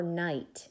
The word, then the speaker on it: knight: is it tonight or knight in shining armor it's a knight in shining armor but this kind of night starts with a silent K that's interesting so if